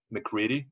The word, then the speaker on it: MacReady: All right, Damon, GAMON, and then you said McCready. Sorry, could you repeat just the last name? Yeah, McCready. That's how it's pronounced, right?